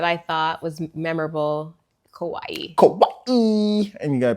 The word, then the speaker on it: Kauai: Kauai. And you got to pronounce it right.